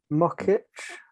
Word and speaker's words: Muchitsch: And hopefully there's a lot more work to come from, how did you pronounce her last name? Veronika? I think it's Muchitsch. Muchitsch. I would totally butcher that.